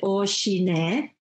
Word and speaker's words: OCINET: But you pronounce it Oshine, and it means from the O family, Oshine, O-C-I-N-E-T.